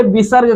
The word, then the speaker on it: विसर्ग: होता है अब देखिए विसर्ग में आप देखिए विसर्ग का उच्चारण किसके तरह होता है ह की तरह होता